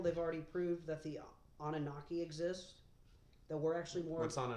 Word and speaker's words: Anunnaki: Just say Anunnaki.